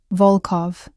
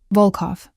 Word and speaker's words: Volkov: He pronounced the name with a reverence that bordered on religious. Volkov. The O sounds deep and round. Volkov.